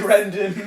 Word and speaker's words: Grendon: Grendon. I'm one of the Grendon. I'm Grendon. No one could figure out whether it was Greenden or Grendon, and I was like, oh.